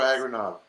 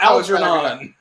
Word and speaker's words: Algernon: sorry no flowers for aggro knob i'll give it to you how do you pronounce the mouse but you did a horrible job it's flowers for algernon thank you for knowing